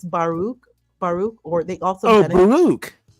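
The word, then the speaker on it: Baruch: Um that's not how you pronounce his first name. Spinosa. No, his first name is Baruk.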